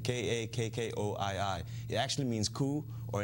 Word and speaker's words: Kakkoii: I mean cut Courtney the name of the restaurant is called Cucuy it's three syllables Kakori kak KO III it actually means ku